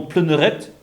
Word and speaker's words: Pleuneret: Donc en breton, pleuneret. Hein, c'est de cette façon qu'on le prononce.